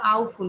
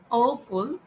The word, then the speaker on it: awful: awful, এই যে অনেকে উচ্চারণ করো আউফুল, কে জানি বলেছে আউফুল বলেছে। সো আমাদেরকে বলতে হবে awful, awful, awful.